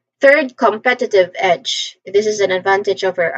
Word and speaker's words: competitive edge: That is competitive edge. Pronunciation wise, the first syllable com there's a schwa sound here.